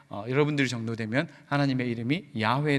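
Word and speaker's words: 야훼: 단어를 대신 사용했던 것처럼 이 야외 라고 하는 이 발음이 원래 정확한 발음 이지만 우리가 하나님의 이름을 망령되게 잃지 않기 위한 망령되게 부르지 않기 위해서 여호와 라고 하는 이 발음을 대신 사용한다 라고 우리가 그렇게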